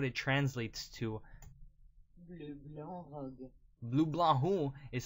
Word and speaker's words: Bleu Blanc: Bleu Blanc is how you say it.